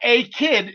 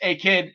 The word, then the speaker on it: A-Kid: It's not A-Kid. It's A-Kid. It's like one word. It's not like 1, 2, 3 kid.